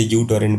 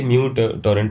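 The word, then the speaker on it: µTorrent: अगर हम म्यू टॉरेंट की बात करें, बचपन में हम उसे यू टॉरेंट बोलते थे तो वो एक्चुअली म्यू टॉरेंट प्रोनाउंस होता है।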